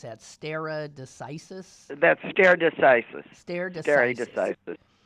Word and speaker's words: stare decisis: what settled law that is how do they pronounce that stare decisis that stare decisis stare generic which is Latin